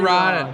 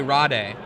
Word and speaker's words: Rade: Domri Rod. Yeah. Or if you prefer the incorrect pronunciation according to Wizards of the Coast, it is not correct to say Domri Rade.